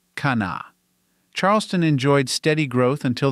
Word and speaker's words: Kanawha: Later, as more Americans and immigrants of various national backgrounds moved into the area, the first H sound in the name was dropped. Now it is just pronounced Kana.